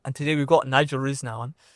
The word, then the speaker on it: Risner: I'm curious how do they normally pronounce your name? Rizler. Risma. Anything but Rizler.